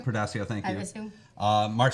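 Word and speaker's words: Portacio: Was I can never pronounce his name. Portasio, thank you.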